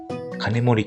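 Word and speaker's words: 金森: 金森と読むのが正解のようです。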